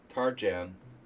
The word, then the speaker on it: Tarjan: The Tarian Tarjan in American. He pronounces his Hungarian name in an American way.